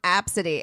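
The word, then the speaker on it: Abcde: d e she like it's pronounced absity and I'm like don't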